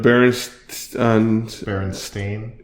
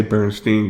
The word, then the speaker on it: Berenstain: It's spelled with instead of Berenstain. Stain is Berenstain. Well, Stain instead of Stein. Yeah, that's right. I always say Bernstein growing up, not Berenstain.